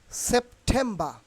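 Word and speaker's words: September: এর মতই হবে আর আর উইল বি সাইলেন্ট হেয়ার আর যদি কোন একটি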